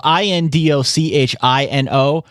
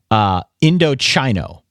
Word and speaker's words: Indochino: When I first read this many moons ago, I pronounced it Indochino on the very first time that I read this. And then from that point forward, they sent over a handy little pronunciation guide. So now it's Indochino. They have chi, CHEE in all caps here so that I don't screw it up.